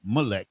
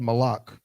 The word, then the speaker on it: Molech: comes from malak and and when you read in the scriptures right and you see molech we would not have pronounced it molec we would have said malak right but again i was